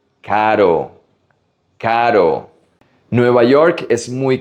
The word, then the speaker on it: caro: Caro, expensive. Not carro. This is the soft R. Caro, caro. Nueva York es muy caro. New York is very expensive. How about the opposite of caro?